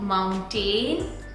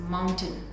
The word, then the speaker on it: mountain: It's not mountain, it's mountain, mountain, mountain.